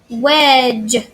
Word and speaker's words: wedge: it make head just wedge hey we do not hear that D in there when just wedge hey the D is silent wedge the e of